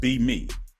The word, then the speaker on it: BEme: see on the screen it's pronounced be me so it's a growing